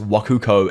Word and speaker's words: Wakoku: By the way, Waguo, I probably said that completely wrong, is the ancient Chinese name for Japan pronounced Wakuko in Japanese.